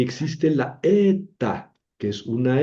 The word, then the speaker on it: eta: Luego sigue la ETA. La ETA es engañosa porque no es la H. La eta es una e.